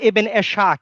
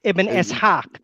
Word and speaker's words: Ibn Ishaq: It's not Ibn Ashaq, it's Ibn Ishaq.